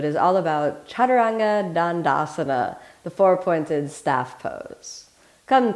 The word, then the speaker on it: chaturanga dandasana: the whole body let's start off with a pronunciation repeat after me chaturanga dandasana chaturanga dandasana chaturanga dandasana chaturanga four-pointed dandasana staff pose in asanga yoga